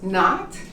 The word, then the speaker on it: knot: not this of course remember k is silent you pronounce not and so is that